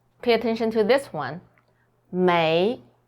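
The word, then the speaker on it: 没: attention to this one may so it's pronounced as may we can translate it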